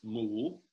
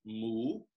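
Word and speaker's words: หมู: And the Thai word for pig is mool. It almost sounds like this, what a cow would say, mool, M-O-O, but it's got an accent. So it goes mool.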